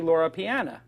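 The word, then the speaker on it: Loro Piana: other brand I like of fabric is actually Laura Pian is that am I pronouncing that correctly Pian that's right and Laura Pian is basically second only the zenya I think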